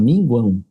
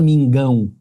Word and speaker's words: minguão: Porque você pronuncia o U. O U também é pronunciado. Você não fala mingão.